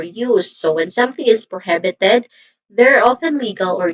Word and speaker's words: prohibited: So this is prohibited. The the second syllable is the stress syllable here which is the hib. So this is prohibited.